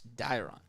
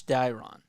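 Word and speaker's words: Dairon: or sorry Dave Ron Blanco dyrom Blanco it's diron enough time to go over pronunciations but I remember it's dyron is up now the time runs over at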